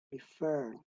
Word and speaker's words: prefer: Prefer. La pronunciación es también en la última sílaba.